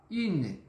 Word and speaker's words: une: É um combo, é como se fosse o biquinho e o som do I. Então, bora lá. Une, une, d'accord?